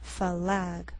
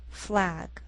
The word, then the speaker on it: flag: Don't say climb, falag, fly. Again, as one syllable, say climb, flag, fly.